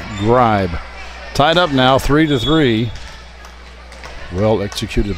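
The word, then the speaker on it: Grieb: It could be Grebe, but I was always taught that when two vowels go walking, the first one does the talking. So we'll say her name is Aaron Gribe.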